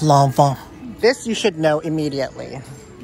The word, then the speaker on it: Loewe: one yet biz landmann it's actually pronounced lava this you should know